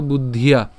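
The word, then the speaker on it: বুদ্ধ্যা: এরপর বুদ্ধিয়া, বুদ্ধিয়া, ওই যে বলেছিলাম দয় ধয় একসাথে উচ্চারণ করবো, বুধ, এরপর হচ্ছে ইয়া, তাহলে একসাথে বলবো বুদ্ধিয়া।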